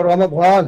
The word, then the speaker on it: रमजान: रमजान और रमदान में कोई फर्क नहीं है, कोई जेड से लिखता है, कोई जे से लिखता है। लिहाजा रमजान और रमदान एक ही है। और सही मान में इसका जो प्रोनाउंसिएशन है अरबी में वो रमजान है। जाहिर बात तो इंग्लिश में हिंदी में बन नहीं सकता।